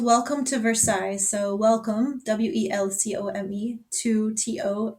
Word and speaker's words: Versailles: Versailles is, you can spell it like VERSAILLES. Versailles.